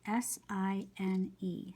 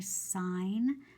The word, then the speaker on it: sine: So even though the word looks like you'd pronounce it sin, we know that's an abbreviation for sine. So we write S-I-N, but we say sine, okay?